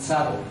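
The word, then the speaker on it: Tsavo: Sabo, que se llama, es con T, S-A-B-V-O, Sabo. A ver si lo pueden pronunciar, Sabo.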